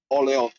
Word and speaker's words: Orléans: Orléans.